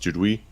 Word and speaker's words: Duduit: french right it is and and french is pronounced dude we and the southern oregon go it's a it's uh it's pronounced but in the french it's so there